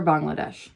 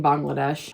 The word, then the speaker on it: Bangladesh: Relief for Bangladesh. Okay, when it comes to pronunciation, I grew up saying Bangladesh, and then as I started doing research for this, I keep hearing Bangladesh.